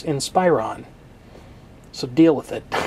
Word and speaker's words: Inspiron: over my pronunciation of the brand name Inspiron people the root word is Inspire okay don't make me